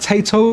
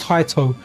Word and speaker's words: Taito: I know I'll call it Tato, and it almost sounds like potato. I think it's actually pronounced Taito.